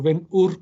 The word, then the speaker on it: Ben-Hur: llama ven ven julio la pronunció wenger se escribe ven con ve grande y luego la segunda parte es h h r h r yo digo mejor o ben-hur como lo quieran ustedes llamar es impresionante el avance